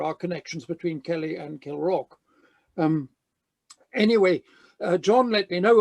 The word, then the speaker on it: Kilravock: get to the real matter, Kilravock Castle, it's pronounced Kilravock, God knows why, but that's why it is.